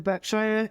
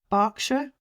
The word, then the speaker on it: Berkshire: Barkshire, not even Shire. That Shire pronunciation again is a very North American thing and we we've you know we just naturally say it like that now.